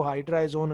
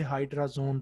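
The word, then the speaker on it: hydrazone: कर दिया, और फिर हम इसको हाइड्रा एजोन अलहदा नहीं पढ़ते, इसे हाइड्राजोन पढ़ा जाता है, प्रोनाउंस किया जाता है।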